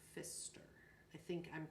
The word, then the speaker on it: Pfister: PF but you don't the P is silent so Pfister I think I'm pronouncing